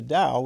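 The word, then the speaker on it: Tao: And there's the Dao, which is pronounced the same way, but that's the Dao De Jing, right from Laos Su.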